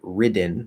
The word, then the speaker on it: ridden: enunciate the first one would be ridden now we're not flapping anymore we're doing a d it's a it's a weak d because at the start of an unstressed syllable written written i have